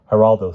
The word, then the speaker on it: Geraldo: it difficult to follow Heraldo spoke slowly and carefully to Simon you understand that Geraldo begins with a G which is pronounced like an H in like an H